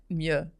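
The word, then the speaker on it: Mleux: Actually, it's pronounced Mieux. Okay. Even though there's an L.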